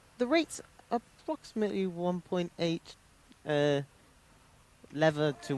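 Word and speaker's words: лев: We actually use something called the Bulgarian leva, or as the locals say, just lev.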